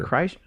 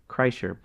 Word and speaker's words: Kreischer: Kreischer. Kreischer.